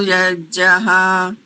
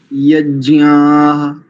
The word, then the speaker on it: यज्ञाः: दो स्थानों पर देखिए, प्रथम पंक्ति का अंतिम शब्द यज्ञ नहीं बोलेंगे, यज्ञाः, ज्ञाः, ज्ञाः, यज्ञाः, ऐसा एक।